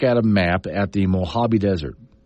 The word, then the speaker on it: Mojave: So you're supposed to say Mojave.